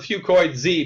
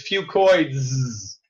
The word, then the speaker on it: fucoidan: say that ten times fast I call a few coins e because that's easier to pronounce but really the correct way to say it is few coins okay she praises an encapsulated puking product and